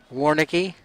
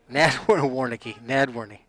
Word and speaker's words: Nadwarney: Drew Howard, pass into the backfield to Sam Warnicki. Nadwarney. So Sam Nadwarney picks up 5 yards on the play. I had a couple of the consonants right in that last mispronunciation of Nadwarney's name.